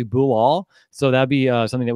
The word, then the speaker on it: Bilal: I found those pronunciation his first name is actually boo all so that be something